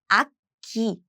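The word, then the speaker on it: 악기: And when you pronounce it quickly, it's akki. So there's a I would say throat blocking sound, ak. And the next sound is this, so it's naturally get doubled, as in akki, akki, just like akki.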